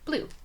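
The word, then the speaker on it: BLUU: It's pronounced just like the color blue.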